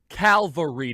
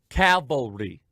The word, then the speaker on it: cavalry: knows that there's a difference between calvary and calvary i sometimes without unintentionally mispronounced one or the other but i know the difference calvary c-a-l cavalry one is where christ was crucified the other is horse mounted infant horse mounted mil horse